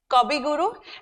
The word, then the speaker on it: Kabi Guru: Gurudev, Kabi Guru, and it is written as we pronounce it in Bengali. So Kabi Guru means Kavi Guru, correct?